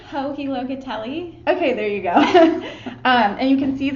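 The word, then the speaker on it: Joji Locatelli: Hohi Locatelli.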